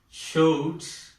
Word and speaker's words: showed: Showed. Now this past tense ending is pronounced as do, do.